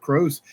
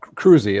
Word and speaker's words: Kroese: Crows, introduce himself to our listeners of viewers at home. Hi. Uh, yes, Cruzy is actually how I pronounce my last name.